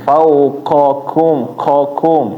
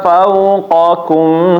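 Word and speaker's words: فوقكم: Kalau huruf qaf jangan dikasih aliran angin. Misalnya kalau dikasih aliran angin jadi kelirunya begini. Fauqakum ya. Jadi kayak kaknya ini kan keluar angin, ku. Nah, ko nggak boleh, fauqakum, qakum. Jadi pindah ya Bapak, keluarnya dari belakang ke depan.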